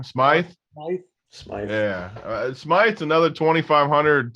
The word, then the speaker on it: Smythe: This Smithy, or whatever you say his name, Smythe.